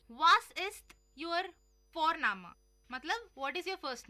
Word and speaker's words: Vorname: और हम यहाँ पे फोरनामा प्रोनाउंस करते हैं बट लिखते हैं उसको वी, वॉरना, VORNAME। ओके, तो वो हम इंग्लिश के अनुसार प्रोनाउंस करेंगे तो बनेगा वॉरनेम, बट नो, इट्स फोरनामा।